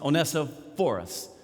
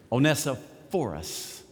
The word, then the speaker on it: Onesiphorus: I think the correct pronunciation is Onesiphorus, because the accent in most of the biblical dictionaries that you look up this name, the accent is on the PH sound. So you got to get the accent on the right syllable for it to make sense.